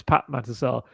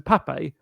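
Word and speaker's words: Pape Matar Sarr: We know it's Pat Matasar. Everyone calls him Pape and I think out of being polite, he's called himself Pape for a little while, but even this year, he's now back to Pat Matasar.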